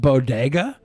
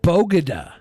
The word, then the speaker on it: bodega: the way she pronounced bodega was possibly worse. Did you say bodega? She said bogada. Bogada. A bogada. Didn't even say bodega would have been better.